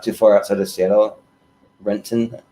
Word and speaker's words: Renton: far outside of seattle renton that's how you say it but um yeah and